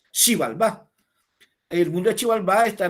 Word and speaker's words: Xibalbá: el mundo maya como Xibalbá. Se escribe con X, la X suena sh, no che, sino sh, suena Xibalbá.